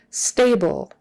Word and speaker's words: stable: severe is your sprain stable stable that le on the end is just an tongue moves up for l o o stable stable